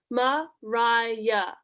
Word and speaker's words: Maria: hello i'm miss bertram mariah older scale cousin pronounced mariah ooh a dance let's go not you funny